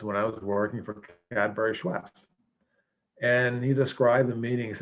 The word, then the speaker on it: Cadbury: business and he said he kept mispronouncing the name said i really don't want to work with uh category i said no it's cadbury said yeah cadeberry and he just couldn't